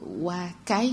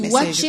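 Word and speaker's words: waakye: Et donc voilà, votre wakai, j'espère que j'ai bien prononcé, est servi... Waché, ça s'écrit Waché. Waché, c'est dans le nord du Togo, non? Oui, même au Ghana, c'est comme ça qu'on appelle. C'est du Waché. C'est du Waché que ça se prononce.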